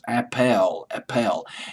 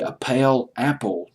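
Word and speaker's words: Appell: Also Dave Appel, it's A-P-E-L-L, I'll just pronounce it as Appel.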